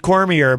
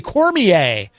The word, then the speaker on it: Cormier: Most people pronounce it Cormier, but, I insist on pronouncing his name correctly because he did tell me once. It's actually Cormier. It's French or something, I guess.